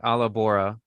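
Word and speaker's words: allabora: to spell that it's it's spelled like alabora so if you're you can't roll your RS there's Grace here you can say it that way too and I won't be mad it's Al l a b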